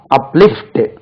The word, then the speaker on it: uplift: uplift, உயர்த்து. இதுவும் lift second syllable.